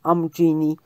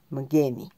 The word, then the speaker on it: Umgeni: Też jest nazwa Umgini czy Amgini. To jest angielska wymowa, natomiast zuluska jest Umgini czy Mgeni.